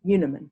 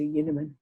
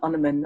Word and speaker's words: Unerman: but as you know i prefer to pronounce my name yoonaman zu yunamen and very few people that don't know me know how i pronounce my surname and so when they